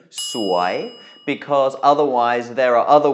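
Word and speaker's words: สวย: and finally the word sway means beautiful or pretty and you will hear this word a lot in Thailand in many contexts do make sure you pronounce it with a rising tone sway because otherwise there are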